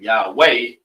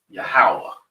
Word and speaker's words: Yahawah: And then it's not Yahweh, it's Yahawah. All right. Right. Three syllables.